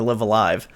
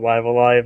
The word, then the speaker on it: Live A Live: Okay, so technically I've always thought it was Live Alive, and Google technically agrees with me, because I actually looked it up, and there was a couple of articles that said, it's pronounced Live Alive, but at the same time, people say Live Alive, like you've been saying. So I'm just gonna go with Live Alive, and people can say